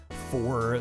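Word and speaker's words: phở: You'll drive four hours for Blockbuster. I mean, hey, go for it, man. Lived in the Midwest. So, you heard foe pronounced or uh foe pronounced as foe your entire life.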